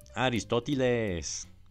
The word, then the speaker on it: Aristóteles: Y luego pronuncié el nombre de mi abuelo con un acento bien formal y mexicano. Aristóteles.